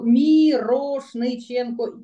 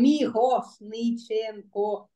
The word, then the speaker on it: Мірошниченко: Маю казати, як і читається по-українськи, Мірошниченко. Чи треба викривляти мені язик і перефразувати це на німецький там Мігошниченко? Я, мені сьогодні Інна, моя напарниця, зробила зауваження, що ти повинна це по-німецькому своє прізвище казати.